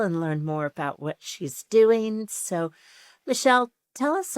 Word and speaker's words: Sidhe: i d h e is actually pronounced she and it was Gaelic for fairies.